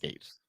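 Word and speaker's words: Gaetz: it's Matt Gates. Matt Gates. There we go. All right. Well, the quote says, it's like Matt Gates claiming he entered Hunter Biden's laptop into the congressional record.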